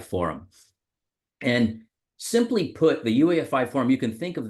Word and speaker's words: UEFI: the UEFI forum and that's actually how you pronounce that UEFI there are some people that call it UI which is also acceptable but uh the UEFI forum and simply put the ufi form you can think